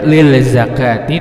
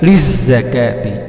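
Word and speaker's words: لِلزَّكَاةِ: Jadi cara membacanya jangan membaca lil zakati tetapi liz zakati, disambung langsung L-nya melebur ke huruf za, maka hukumnya adalah alif lam syamsiyah.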